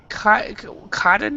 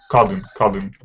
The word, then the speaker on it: cutting: Cutting. Short like cut. ING from cut.